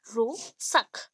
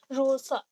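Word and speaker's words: Rorschach: तो आप क्या करेंगे, रो सक, आप आर को प्रोनाउंस हल्के से करें तो चलेगा, रो सक, ठीक है।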